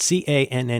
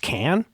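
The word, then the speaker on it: Caen: The thing I've always said is um I think it's pronounced might be pronounced can like in French, but like not not exactly the same way we pronounce in English, but I think it's pronounced can.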